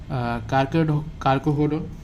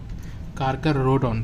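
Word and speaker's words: Carcharodon: कुछ किसी में इलेक्ट्रिक ऑर्गन होता है जिसको टॉर्पीडो बोला जाता है, और एग्जाम्पल्स में होता है कार्कोहोडोन। मैं प्रोनाउंसिएशन देख लेता हूँ। कार्कोरोडोन, सॉरी RO है।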